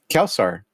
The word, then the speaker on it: Quelsar: or uh from Europe they actually say my name correctly like especially the French and uh the Spanish they'll say kelsar so yeah so you